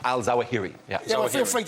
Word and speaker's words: al-Zawahiri: just do you nuts man called al-zawahri not a man al-zawahiri ya know if you're